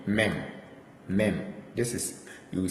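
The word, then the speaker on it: מ: Then we have mem. Mem. This is mem, letter M. Mem. This is how it's pronounced, mem.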